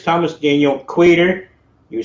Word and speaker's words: Queter: And remember, it's Thomas Daniel Queter. You said it right. Queter, never quitter, rarely quieter.